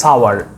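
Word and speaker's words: sour: this apple is সাওয়ার অনেক সময় আমরা এস ও ইউ আর কে সোর বলে থাকি বাট সোর ইজ not correct pronunciation correct প্রোনাউনসিয়েশন of this word is সাওয়ার সাওয়ার ছেলেটি সুখী ছিল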